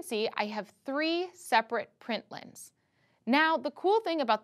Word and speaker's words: println: dot println and then we pronounce it print line' then you have a